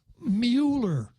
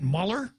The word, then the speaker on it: Mueller: is the Democrats versus Mueller mue Mueller pronounced how will Joe Cruz Mueller yeah can you pronounce it Muller I don't think that's correct yeah you could do